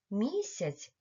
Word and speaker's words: місяць: кожного із цих слів у слові мак звук м вимовляється твердо А у слові місяць м вимовляється м'яко Отже звук м буває